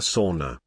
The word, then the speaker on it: sauna: Sauna sauna sauna. I have a Norwegian family and we say sauna, and so do a lot of other people in Minnesota. It's a Finnish word and that's how they say it.